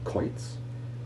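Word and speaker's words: quoits: as in peaks and coits and we hear only a hard c sound but more often the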